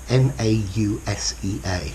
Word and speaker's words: nausea: To feel nausea, yeah, nausea, N-A-U-S-E-A, notice my pronunciation, nausea, yeah, okay, so when